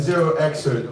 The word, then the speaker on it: 0xcert: to thank our partners, Kulamat, Data Fund, and 0xcert.